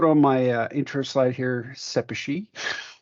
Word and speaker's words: Szepesi: my intro slide here sepachi that's how you pronounce my last name I do work at